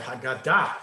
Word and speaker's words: Haggadah: Haggadah. Very good. Haggadah, or Haggadah in correct modern Hebrew.